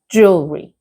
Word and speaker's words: jewelry: But the pronunciation is the same and it is jewelry. Okay? Jewelry. For example, mm she wears beautiful jewelry. So, remember not jewelry or jewlery, something like it's jewelry.